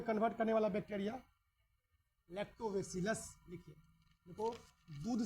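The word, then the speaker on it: Lactobacillus: convert करने वाला bacteria लैक्टोवेसिलस लिखिए दूध से दही में परिवर्तन करने वाला बैक्टीरिया लैक्टोवसिलस लैक्टोवसिलस नहीं बोलना है लैक्टो वेसिलस ठीक है ठीक है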